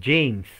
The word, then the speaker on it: James: soberano, el rey James, se escribe James, pero la E es E y la J es J, se pronuncia la M, no se pronuncia la E y se pronuncia la S, James, por la gracia de